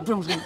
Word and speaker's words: boulangerie: La boulangerie. La boulangerie, exactement. En fait, il y a beaucoup de E C'est les E qui sont souvent... qu'on saute. Enfin, ils sautent, on ne les prononce pas.